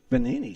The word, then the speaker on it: Benini: How do you pronounce his last name? Benini? Benini.